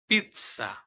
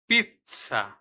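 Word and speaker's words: pizza: পাঁচ নাম্বারে আছে যেতা যেতা অক্ষর দুই রকম উচ্চারণ হয় কখনো শোনা যায় খন্ডত স এর মত আবার কখনো শোনা যায় জ এর মত যেমন উদাহরণস্বরূপ দেখেন পিচ্ছা পিচ্চা জের জের এর আবার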